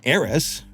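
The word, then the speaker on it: Ares: Aerys, Aerys, is how you say it.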